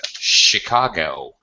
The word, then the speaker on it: Chicago: I was saying is some English words as a matter of fact the CH spelling actually makes a SH sound for example in the big major metropolis in Illinois in the United States Chicago CH makes a an SH sound we're cheek Chicago Chicago